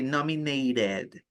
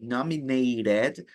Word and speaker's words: nominated: In English, many people, many native English speakers, they don't pronounce the T, they pronounce it like an R, which I find very annoying.